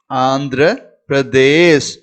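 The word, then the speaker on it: आंध्र प्रदेश: பாருங்க இந்த எழுத்து பிர, பிர, தே, பிரதேஷ், ஆந்திர பிரதேஷ், ஆந்திர பிரதேஷ். தெளிவா புரிஞ்சுக்குங்க இந்த எழுத்தை எப்படி உச்சரிக்கணும்ட்டு.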